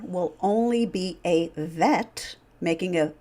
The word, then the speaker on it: Vet: Now, when you encounter the same consonants, but there's no dagesh, there's no dot in the letter, then we pronounce it like a V sound, as in vivacious.